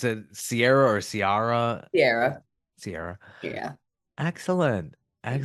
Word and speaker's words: Ciara: And you pronounce it Sierra or Ciara? Sierra.